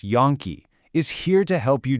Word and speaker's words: Yonke: Yane Law, that's pronounced Yonke, is here to help you do just that.